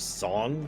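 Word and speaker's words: Tseng: of the Turks song It's supposed to be pronounced song this job is looking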